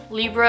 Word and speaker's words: Libre: In French it's pronounced Libre, so I feel like it's Libra or something like that.